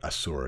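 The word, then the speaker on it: Asur: fight on with courage so actually not Asser but assur is probably how I truly pronounce that so the courage of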